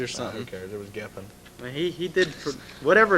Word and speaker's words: Geffen: They were on Giffen back then. Is that the right pronunciation? Geffen Records? Giffen. All I know is Geffen.